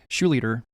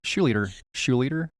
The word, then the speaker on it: Schlueter: I said leader with the SCH at the beginning.